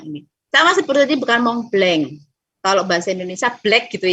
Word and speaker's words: Mont Blanc: Tapi karena ada sengaunya jadi Mont Blanc. Oke. Jadi sebenarnya suaranya tetap A, tapi karena ada sengaunya, ada N-nya tadi yang menimbulkan suara sengau, jadi bacanya Mont Blanc.